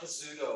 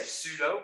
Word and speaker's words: pseudo: thing here it's not pizudo i by the way that is the p is silent so you just say pseudo pseudo code pseudo kind